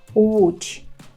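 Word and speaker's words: Łódź: з великої то вужі це назва польського міста уч уч не лякайтесь цього слова все можна навчитись вимовляти уч Якщо пливемо лоджу так то нам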